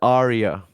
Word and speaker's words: ARIA: Do you guys pronounce it Aries or Ari or Aria? Ari. Wait, what? Aria? The Australian like music awards thing. Oh yeah, it's Aria. Yeah.